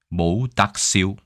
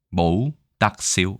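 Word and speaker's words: 冇得輸: 어떻게 발음을 하나 봤더니 저도 광동어는 못합니다. 하지만 발음에 관심이 있기 때문에 봤더니 모우닥시우, 모우닥시우 이렇게 얘기합니다. 그렇죠?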